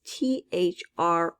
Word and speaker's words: through: through the door is t-h-r-o-u-g-h through we don't hear the gh at all in the word through so it's a silent